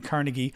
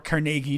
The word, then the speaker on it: Carnegie: how to how to define Carnegie or Carnegie depending how you pronounce it um Foreign Affairs